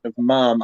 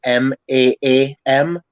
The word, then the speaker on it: ma'am: Ma'am, what you're thinking of ma'am as in MAAM, MAAM. Yeah. But I'm thinking we pronounce it ma'am as in MAM. And it comes from like the Irish like sort of way of pronouncing it, because there's like